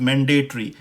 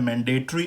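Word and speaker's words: mandatory: कि ये लाजमी आपको करना है, this is मैंडेटरी, you have to do this. सो अब ये जो वर्ड है ब्रिटिश प्रोनाउंसिएशन में वो है मैंडेटरी, अगेन ट्री करके यूज़ हो रहा है।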